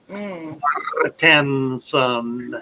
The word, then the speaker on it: Martensen: Johan Martensen says, "Don't forget to pronounce the E in my name, Father Fish." Yeah. And I don't know, I don't which. There are only two. Martensen.